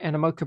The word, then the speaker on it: Animoca: Animoca, is that how you say it? Animoca Brands.